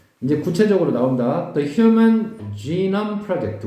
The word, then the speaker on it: genome: The Human Genome Project. 우리가 게놈 프로젝트라고 하는데 발음은 genome이야.